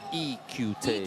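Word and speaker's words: Lee Kyu-tae: That's going to be Lee Q-Tae. The pronunciation, according to the players, is E-Q-Tae. E-Q-Tae.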